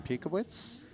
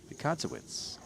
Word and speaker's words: Pikazowitz: Looks like a raise from Pikowitz. Pikazowitz. I'm sorry, been leaving out an entire syllable.